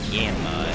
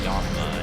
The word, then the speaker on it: Yanma: or something like that I found out that they pronounce it yanma instead of yma and to be honest